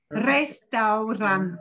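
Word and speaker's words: restaurante: e at the end one strong r at the lead off and a single flap at the end restaurant and you'll hear this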